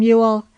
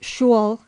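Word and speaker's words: Yule: Welcome, Ule. It brings the school boy home from school." NB vulgarly pronounced shu in the west of England, puddings and mistletoe and holly with other contrivances for banishing melancholy.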